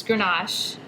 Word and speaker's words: Grenache: This is get into pronunciations again, Grenache. Correct. So it's Grenache, Right.